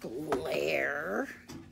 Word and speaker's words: lair: In a cave, in the woods, in a deep, dark lair. Lair rhymes with hair.